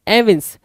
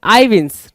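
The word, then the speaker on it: evince: देखो भाई, एविंस करना, एविंस या फिर आईविंस, ठीक है ना, आईविंस। कुछ लोग एविंस पढ़ेंगे, कुछ लोग आईविंस पढ़ेंगे, कोई इशू नहीं है, यहाँ पे पढ़ के बता भी रहा है, ठीक है, प्रोनाउंसिएशन यहाँ पे देने की कोशिश भी कर रहा है। सो एविंस भी ठीक है, आईविंस भी ठीक है।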